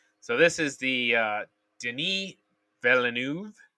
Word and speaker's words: Denis Villeneuve: Everybody I've listened to said I said Dennis Villanova. Everybody I listened to said Denny this week. So Denis Villeneuve. Yeah, if you're French, it's Denis.